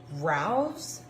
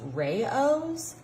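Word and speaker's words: Rao's: Now I have always pronounced this marinara sauce Rouse, but lately people have been saying to me that it is pronounced Rayos.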